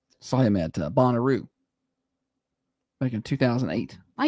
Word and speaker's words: Bonnaroo: Why you got to say it like that? Why? What do you What? Bonaroo. What's wrong with saying it like that? You know that's not where the infasis goes.